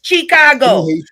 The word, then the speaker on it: Chicago: If you even and Chicago isn't even pronounced that way. It's Chicago.